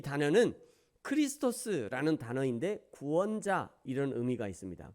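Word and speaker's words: Χριστός: 그리스도라는 이 단어는 크리스토스라는 단어인데 구원자 이런 의미가 있습니다.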